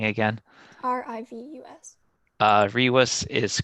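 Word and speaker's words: rivus: Can you spell that? R-I-V-U-S. Can you say the spelling again? R-I-V-U-S. Rewis is correct.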